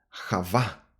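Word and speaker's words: חוה: comienzo de la esperanza Eva en hebreo se pronuncia Java está relacionado con las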